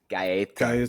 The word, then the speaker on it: Gaeta: Did I get what's the correct pronunciation of your last name? Uh, GA. Gaya. Gaya. I mean, you're pretty close.